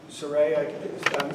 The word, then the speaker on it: Saray: Yeah, Saray, is that the way to pronounce the name? I'm sorry, I've pronounced it Sarah, so that's my fault.